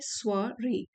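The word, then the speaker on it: soirée: invitation और prestigious स्वरे यह जो वर्ड है इसको प्रोनाउंस करते हैं स्वरे और प्रेस्टीजियस होता है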